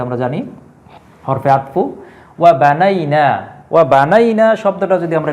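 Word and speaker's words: بنى: হচ্ছে এবং এটা আমরা জানি হরফে আতফু ওয়া বানাইনা ওয়া বানাইনা শব্দটা যদি আমরা একটু বিশ্লেষণ করি আরবিতে তিন বর্ণ বিশিষ্ট একটি ভার্ব হচ্ছে বানা বানা বানা অর্থ হচ্ছে বানানো আমরা যেটা বলি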